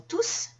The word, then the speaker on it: tous: la fête ils sont tous venus à la fête tous va remplacer par exemple les amis donc étant donné qu'il y a un remplacement dans ce cas je vais prononcer le s en fait la prononciation